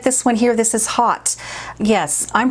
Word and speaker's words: Haute: have been spelled differently au to me is an ah sound you know but then